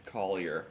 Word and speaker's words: Collier: my last name gets mispronounced sometimes. Collier. Collier. It's not It's Collier. I'm an American. Not I'm not French.